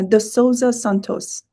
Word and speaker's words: de Sousa Santos: Uh De Sousa Santos.